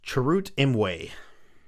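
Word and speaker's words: Chirrut Îmwe: on um so we first we have uh charoot emway is did i say his name right that's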